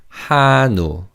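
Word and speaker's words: 한우: they call Korean beef hano hano because the second syllable begins with an theim in the first syllable carries over. So this is said hano hano.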